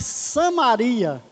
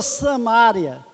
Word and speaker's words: Samaria: época cercou a cidade de Samaria ou samária como alguns pronunciam e meus irmãos diz